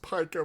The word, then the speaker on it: pica: I know it's pronounced pica, but I don't care.